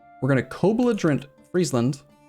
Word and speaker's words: Friesland: it's pronounced friesland like freeze are you just continuing to